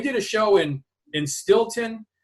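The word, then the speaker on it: Steelton: But, we did a show in in Stilton. It's uh it's spelled steel ton uh Pennsylvania Stilton and on a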